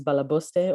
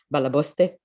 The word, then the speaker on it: Balaboste: My company's name is Balaboste, or as any Jewish Yiddish-speaking grandma would pronounce it. I'm Israeli, so mine would be Balaboste.